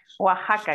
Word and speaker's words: Oaxaca: por la invitación sí Oaxaca aquí decimos la x en el Oaxaca se pronuncia así Y sí de aquí